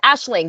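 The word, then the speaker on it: Aisling: I think it's aing yeah Ashling no it's Ashling that's right of all things I saw her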